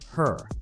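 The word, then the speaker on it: HRRR: Regional weather forecasting models, like the High-Resolution Rapid Refresh, pronounced her, are among the most advanced tools we have for predicting short-term weather.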